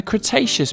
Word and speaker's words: Cretaceous: about a hundred million years ago in the cretaceous period cra tay chess so what have we learned we learned